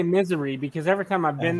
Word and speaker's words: Missouri: missouri is known as the show me state missouri missouri two missouri okay so you're right well i always say misery because every time i've been there it's been